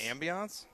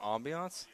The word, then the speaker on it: ambiance: heard of that word it's not Ambiance oh you guys are coming at me about pronunciation you can kiss my ass though OS is this a question it's French I've never heard it